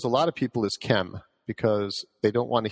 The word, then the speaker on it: Kem: It's Kem.